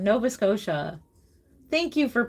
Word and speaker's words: Nova Scotia: Nova Scotia. Thank you for pronouncing that correctly for me.